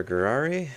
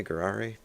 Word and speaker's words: Gurary: Gurary. That's basically pronounced like Ferrari, but with a G. So Ferrari, Gurary, very similar.